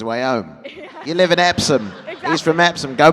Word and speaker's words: Epsom: I want to make sure I'm pronouncing that right. I was born in Epsom in Surrey, which is south of London.